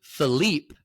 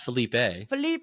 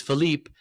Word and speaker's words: Philippe: He's a brilliant footballer, and I believe it's pronounced Coutinho. I don't know. Can I do it? Yeah. It's actually Philippe, not Felipe. It's Philippe Coutinho.